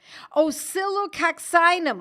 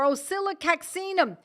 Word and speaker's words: oscillococcinum: I said, oscillococcinum or oscillococcinum. And I happen to have it right here so that you know what I'm talking about. Oscillococcinum. It's pronounced both ways.